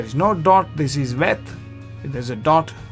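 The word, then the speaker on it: ב: If there is no dot here it is pronounced c. And when there is a dot you pronounce c. Here when there is no dot you pronounce f. When there is a dot you pronounce purr.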